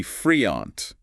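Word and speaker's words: freond: Like friend, F-R-E-O-N-D. Sounds like. Friend, pronounced roughly friant.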